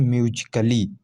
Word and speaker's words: musically: यदि ए के बाद डबल एल वाई आए तो ए साइलेंट होता है। ठीक है, ए क्या होता है? साइलेंट होता है। एग्जाम्पल देखिए, MUSICALLY, तो इसे क्या पढ़ते हैं? म्यूजिकली। ठीक है, क्या ए साइलेंट है? यहाँ म्यूजिकली ओनली पढ़ते हैं।